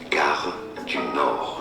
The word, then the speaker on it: Gare du Nord: Gare du Nord, Okay, so thank you. meaning the train station of the north. Got it. Because it goes to northern. Gare du Nord.